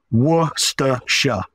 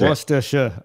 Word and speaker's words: Worcestershire: It's just a couple of syllables. So it's Worcestershire. That's Worcestershire. Okay. That's it. I know there's a lot of Worcestershire and things when people say, but just Worcestershire, that's it.